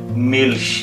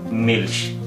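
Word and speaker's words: Milch: ই এল সে হা এখানে কিন্তু মিল্ক হবে না এখানে উচ্চারণটা হবে মিলশ কারণ এই সেহাটি আসলে ভাওয়েলের পর পর বসে নাই বরং ভাওয়েলের পরে একটা কনসোন্যান্ট আছে এর পরে সেহা বসেছে এবং এর উচ্চারণ হবে যেমন মিলশ কোন ডয়েট শব্দের মধ্যে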